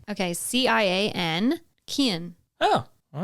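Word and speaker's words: Cian: so these are Irish boy names okay c-i-a-n Kian oh all right let's see what that sounds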